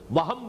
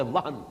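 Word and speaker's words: وهن: note کر لیجئے، وہن، ویسے یہ کہ تلفظ میں وہم جو ہے میم کے ساتھ، یہ چونکہ ہمارے ہاں عام طور پر لفظ استعمال ہوتا ہے، آپ کو مغالطہ نہ ہو، یہ نون کے ساتھ ہے وہن، اور وہن ہی سے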